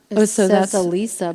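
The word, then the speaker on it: Allysa: Lily's mother or Alysa which we pronounce it Alyssa in the movie yeah I'm not sure what happened with the audio book Alisa but I've been meaning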